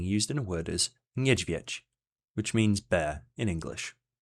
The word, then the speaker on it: niedźwiedź: An example of this digraph being used in a word is niedźwiedź, which means bear in English.